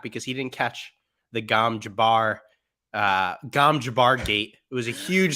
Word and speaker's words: Gom Jabbar: yeah, it was Gom Jabbar, right?